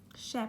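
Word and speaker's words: ship: تلفظ کشتی چون که یه دونه آی داری به صورت ا کوتاه خونده میشه شپ شپ شپ شپ اما گوسفند به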